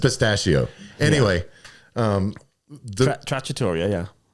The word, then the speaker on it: trattoria: Let me give you Tortilla, which is, we had an argument about.